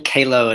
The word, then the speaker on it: Kahlow: Kahlow is the proper Kahlow. German pronunciation. Kahlow is how we say it in the States.